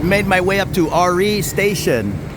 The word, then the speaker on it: Ari: So I've made my way up to RE Station, spelled A-R-I, pronounced R-E.